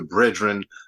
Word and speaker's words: BREADren: Well, You missed us to another rousing rendition of what we like to call here the BREADren podcast. That's bread spelled like bread, BREAD, because we always talk about bread and we always get into it.